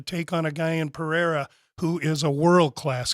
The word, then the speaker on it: Pereira: Alex's last name how do you say it Pereira Pereira okay so he it's interesting when you're